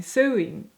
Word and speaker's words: sewing: sewing sewing right but what I want to say is sewing sewing sewing sewing or sewing what more like you're suing someone in court that's how I want to pronounce it but I think it's sewing you have no idea how